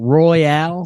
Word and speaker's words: Royale: We got Royale, spelled like royal, but like Roy Al.